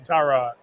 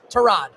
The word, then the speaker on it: Tyrod: What is the correct pronunciation of your first name? Tyrod. Tyrod Taylor. Yep. Tyrod. Either one. That works too.